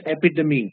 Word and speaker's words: epitome: synonyms synonyms epitomy epitomy the word is pronounced epitomy it's not epitome okay